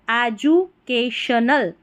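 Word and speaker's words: educational: एंड एजू, DU को जू पढ़ना है, एजू, CAK, और TIONAL रहता है ना, इसको शनल करके पढ़ते हैं, तो एजुकेशनल, एजुकेशनल।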